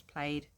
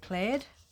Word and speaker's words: plaid: So, actually would go really, really well with my color essentials played papers. Um, now I do recognize that some people say plaid. Um, I say played. So, same thing, just different pronunciation.